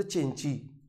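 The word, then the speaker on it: Cenci: और उसके बाद जो है एक ट्रेजेडी पर बात कर लेते हैं, नाम है द चिंची। वैसे लिखा रहता है सेंसी, बट इसको प्रोनाउंस करते हैं चिंची, राइट।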